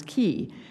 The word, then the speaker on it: quay: I learned the Quay I've learned to pronounce this key as I knew to